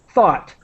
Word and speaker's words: thought: the I'm trying to the pronunciation is like the word hot but with th thought thought thought so that's